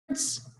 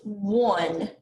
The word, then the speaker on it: one: so it's pronounced one okay it's actually pronounced one as in i have one fish and i'm gonna write